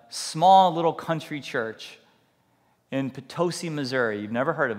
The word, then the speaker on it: Potosi: working in a small little country church in potosi Missouri you've never heard of it before it's pronounced potosi not Pato sigh all right potosi Missouri Erica and I we